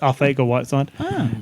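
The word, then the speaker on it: Arcega-Whiteside: lot of players JJ ARA Whit side apparently you don't pronounce the C it's just ARA whide he was their number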